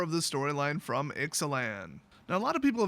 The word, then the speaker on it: Ixalan: a LAN or exelon it's exelon but I'm pretty darn sure that the Aztecs and Mayans did not use the Latin pronunciation for vowels so guess what it's excellen so this particular chapter